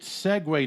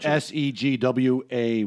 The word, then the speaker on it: segue: this is a great segue nominee for our segue we need you right segue with a us yes yeah you butchered it you said se GWA why last week in its se gue I was thinking the